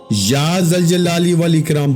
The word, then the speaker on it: ذوالجلال والاکرام: اس لیے یہ الفاظ بھی آج یا ذوالجلال والاکرام، یا ذوالجلال والاکرام، بعض لوگ اس کو کسی اور طرح پڑھتے ہیں، لیکن آپ کو جیسے تلفظ بتا رہا ہوں اسی کے مطابق پڑھیے گا، اسی ترتیب کے ساتھ.